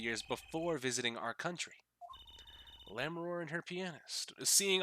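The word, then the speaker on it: Lamiroir: Excuse me, it's pronounced Lammeror.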